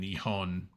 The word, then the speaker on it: Nihon: was working on that with their stuff and nion is how you say Japan in Japanese and